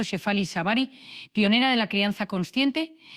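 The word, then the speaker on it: Shefali Tsabary: Hoy, gracias a la sabiduría de la doctora Shefali Savari, pronunciado Shefali Savari, pionera de la crianza consciente, te voy a dar tres espejos.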